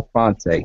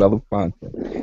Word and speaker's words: Belafonte: Harry I don't know how to pronounce the Henry brother. Belafonte. Yeah, Henry Right. Belafonte.